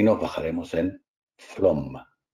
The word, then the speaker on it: Flåm: Aquí, Faam, que en el nórdico moderno se escribe la A con una bolita encima, no sé si lo habéis visto en algún folleto o algo. Antiguamente era una doble A, hoy en día es una A con una bolita, es la misma letra.